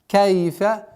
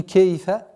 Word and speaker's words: كيف: Кайфа со звуком Кайфа, не кейфа, Кайфа.